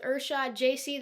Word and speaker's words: Ershod Jasey: I'm here with Ershod Jasey. That is how you pronounce it, right?